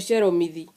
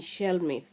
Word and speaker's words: Shelmith: Mwingine anakuambia anaitwa Sheromithi. Sheromithi kwa Kiingereza ama kwa lugha ya Kimombo ni Shelmith.